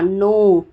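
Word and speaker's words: know: मतलब आक्रमण फिर जानना नो एन के एन ओ डब्लू नो मतलब जानना यहां पे के साइलेंट होता है इसलिए नो बोला जाता है उसको धुआ धुआ मतलब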